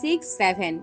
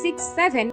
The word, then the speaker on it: 6-7: এর উচ্চারণ হবে 6-7, তবে কখনো 67 নয়।